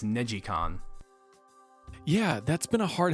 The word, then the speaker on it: NeGcon: different Ridge Racer games I always pronounce the first one as negcon apparently it's neicon yeah that's been a